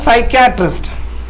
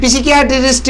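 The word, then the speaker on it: psychiatrist: மனநோய் அது வந்து சைக்காட்ரிஸ்ட் சைக்காட்ரிஸ்ட் மனநல நிபுணர் மனநல நிபுணர் அந்த மனநோய் சம்பந்தமான இதெல்லாம் பார்ப்பாங்க இல்லையா அவருக்கு பேரு இது பிசிகாட்ரிஸ்ட் அப்படி எல்லாம் சொல்லிடக்கூடாது சைக்காட்ரிஸ்ட் சைக்காட்ரிஸ்ட் வேற யார் இருக்கா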